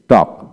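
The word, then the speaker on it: talk: half টি এল কে টক টক এখানে এল এর উচ্চারণ হবে না এল এর আগে এ আছে তাই এখন আসেন সি এ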